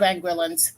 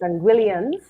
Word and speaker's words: Anguillian: us a sense as to what percentage of anguillan so I'm gonna tell you now he's gonna correct you it's anguillian anguillian that's how they pronounce it yes anguillian